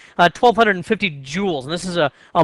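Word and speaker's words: joule: prevent that from happening they're rated according to jewels that j u l e is pronounced a jewel and the you know Common numbers you might have would be something like 1,250 jewels and this is a a measure of how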